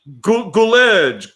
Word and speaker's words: Gulledge: Gulledge. No, it's gull. Gull, like sea gull.